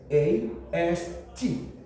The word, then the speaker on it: breakfast: Consider this word BREAKFAST. Pronounce it.